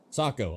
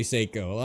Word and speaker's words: Sako: Saco. I am right. I'm saying it right. Most Americans say Seyiko. I'm just a sophisticated American. I've been saying Sako from the jump.